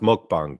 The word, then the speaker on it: mukbang: Yeah, it's pronounced mukbang, by the way. People say mukbang.